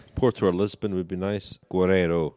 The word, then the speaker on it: Giro: Lisbon would be nice Guero of course I said Guera earlier before the pronunciation police are on to me um where else though